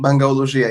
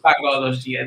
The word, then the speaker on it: Bangalogia: And Coreon is the director of Bangalogia. Did I say it correctly? Bangalogia, yeah. Bangalogia.